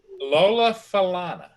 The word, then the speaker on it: Falana: How do you pronounce her name? Lola Falana.